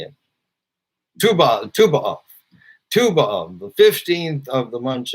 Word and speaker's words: Tu B'Av: Tu B'Av, the 15th of the month of Av, which says the happiest day of the year.